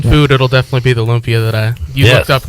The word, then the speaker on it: lumpia: Lumpia.